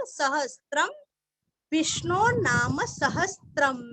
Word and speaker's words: सहस्रं: विष्णोर नाम, विष्णोर आधार, विष्णोर नाम सहस्त्र, सहस्त्र अनुस्वार का उच्चारण आधा म, सहस्त्रम, विष्णोर नाम सहस्त्रम में, म अनुस्वार का उच्चारण करके आगे में बोलना है।